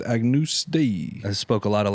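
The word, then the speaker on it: Agnus Dei: you with some like Agnes Day it's pronounced Agnus day I spoke a lot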